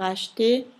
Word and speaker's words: acheter: Pour acheter, CH si pronuncia CH, la E muta, la R dell'infinito non si dice. Acheter, H, se fate la divisione in sillaba, la E rimane alla fine della sillaba, per cui muta.